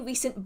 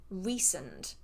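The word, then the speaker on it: Rhysand: I never said recent. That doesn't feel right in my brain. I've always said ricend. And now I'm having to listen to recent be the name and the pronunciation that's used, and it's kind of hurting my brain.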